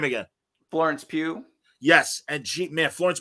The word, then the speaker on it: Pugh: played by i always forget her name is pew yeah she's great say her name again florence pugh yes and jeep man florence p she's amazing